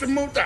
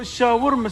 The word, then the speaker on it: shawarma: No, shawarma say. How you say it? Shawarma wrap. Shawarma wrap. Yeah. Not shamuta wrap.